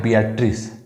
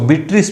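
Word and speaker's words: Beatrice: इसके जो प्रेम गीत हैं बियाट्रिस के से संबंधित, उसमें जो नायिका है वो है बियाट्रिस, या उसको बीट्रिस भी उसका उच्चारण आप कर सकते हैं, दोनों ही नाम ठीक है।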